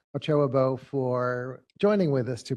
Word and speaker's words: Ochoa Bogue: And also to Senator, how do you pronounce her last name? Ochoa Bogue. Ochoa Bo for joining with us to potentially sponsor this.